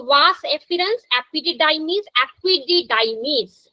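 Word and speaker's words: epididymis: तो वास एफिरेंस एपिडिडाइमीस एपिडिडाइमीस अच्छे से प्रोनाउंस करना है एपिडिडाइमीस है ना वर्ड को तोड़ के पढ़ना है तो इंग्लिश पढ़ने में आसान लगेगी एपिडिडाइमिस वास डेफिरेंस इजकुलेटरी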